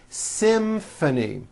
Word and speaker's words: symphony: in this next word symphony this is a tricky one because you've got the M sound followed by an F sound symphony and the last